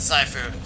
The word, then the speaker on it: Sifu: Sifu. Oh, okay. I've heard people pronounce it Saifu, so.